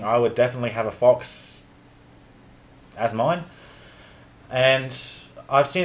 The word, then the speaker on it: faux: me he is the epitome of a red fox to me I with little blues for a bit of pizzazz I say and plus orange and blue go really well together I like plan words I know forks is mentally pronounced fo and it means fake